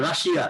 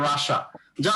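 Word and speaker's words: Russia: ঠিক আছে তো সেম ওয়ে আমার বাংলায় বললে রাশিয়া ইস ফাইন বাট ইংরেজি হলো রাশা যাই হোক এগুলার রুলস আছে তো আমরা শিখবো তাইলে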